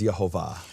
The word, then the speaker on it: Jehovah: name of the father according to its true pronunciation is jehovah okay ladies and gentlemen